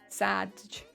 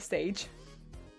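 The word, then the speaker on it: Sadge: Rhymes with badge. Oh, Sage. I see. I get it. Thank you. Because it's code. Oh, it's code for something on Better Twitch TV. Got you. Thank you. I appreciate it. Sage, like edge, but sad.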